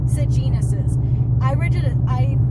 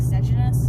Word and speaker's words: Sejanus: It eliminates Sejanus's. When I read the book, I was pronouncing like Sejanus, so that was something new for me, was learning that it's Sejanus actually, which I think is worse.